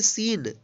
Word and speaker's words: scene: यहाँ पे भी देखिए SC एक साथ है तो इस सी का उच्चारण नहीं हुआ है। तो यहाँ पे देखिए, चलिए आगे देखते हैं। SCENE, इसको पढ़ेंगे सीन।